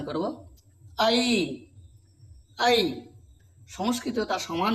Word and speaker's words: ঐ: কিন্তু এর উচ্চারণটা ঐ হবে না। এই উচ্চারণটা হচ্ছে আই। এই বাংলায় উচ্চারণটা কিন্তু আমাদেরকে ঐ উচ্চারণ যে করেছি সেটা কিন্তু ত্রুটিপূর্ণ। তাই আমরা এর উচ্চারণ করব। আই আই সংস্কৃত তার সমান উচ্চারণ